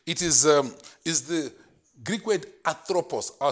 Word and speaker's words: anthropos: Okay, it is the Greek word anthropos. I'll spell it for you.